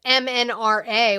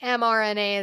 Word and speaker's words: mRNA: Steve says you said MNRA, which is not how you say it, but mRNA is evil.